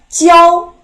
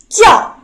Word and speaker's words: 教: 去 Now the last word is 教 There are 2 pronunciations. The first pronunciation is the first tone. 教 The second pronunciation is falling tone. 教 Now, firstly, let's learn how to write it.